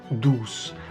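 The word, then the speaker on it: douze: a play of words in French 12 is pronounced do and do also means sweet or beauty therefore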